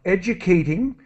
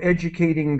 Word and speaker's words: educating: And just let me help you with the pronunciation of educating. So the value of educating girls, and a child's education, and based on. T sound as quick as possible.